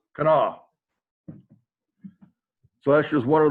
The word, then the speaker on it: Kanawha: And he can say definitively it's pronounced with 3 syllables, Kanawha.